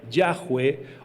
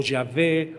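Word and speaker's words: Yahweh: La pronunciación correcta de Dios tendría que ser Yahweeh o Yahvé o Yahvé.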